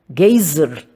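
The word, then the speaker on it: Geysir: altura de 10 toesas o Gazer termo que os islandeses pronunciam giser e que significa Fúria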